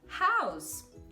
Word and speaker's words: house: Então, por exemplo, a palavra house, house, ok? Não vai ser house, house, o que eu vejo tantos brasileiros falando, tá bom? Então, é um som de S mesmo, é house, house, tá?